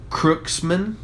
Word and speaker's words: Kurtzman: Kurtzman.